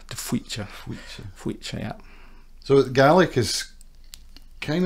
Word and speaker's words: De Faoite: But albeit when you see it written and you've no idea how to pronounce it. It's Tweecher.